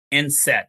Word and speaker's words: enset: So, speaking about food and things they need, um we're going to talk about something called enset.